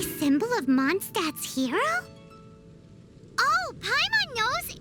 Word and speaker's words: Mondstadt: Totally but pronounced that Mondstadt correctly.